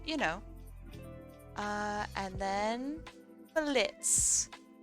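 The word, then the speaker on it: Blitzø: know uh and then Blitz the O is silent this is Blitz he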